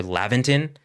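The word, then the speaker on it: Laventon: Leventon is uh or Lavventon is believed to be the pronunciation.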